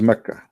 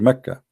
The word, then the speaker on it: Mecca: Sorry, for the people of Quraysh, they pronounce the letter Qa as Ka in such places, like in this case here, Mecca. So all what they do, they switch the letter. So Makkah became Mecca.